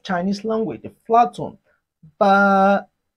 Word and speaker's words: 八: Ba. Repeat after me. Ba. It has the flat tone of Chinese language, the flat tone. Ba.